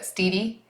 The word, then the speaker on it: Steady: He's spelled like steady, but Steedy, the way that the shepherd had died, or by somebody leaving the community.